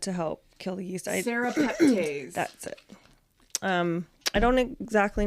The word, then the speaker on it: serrapeptase: Surreptides. Surreptides? Did I say it properly? Surreptase? Yeah. This is another thing to add to help kill the yeast. Serrapeptase.